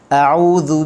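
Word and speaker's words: أعوذ: A'udzu billahi minasyaitonir rajim. Okey. A'udzu a'u ain, hamzah kena ambil di halqum bawah. Okey, bersifat dengan jahar.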